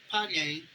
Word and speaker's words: Pyongyang: Uh, uh, Pyongyang, Pyongyang, you say it like that.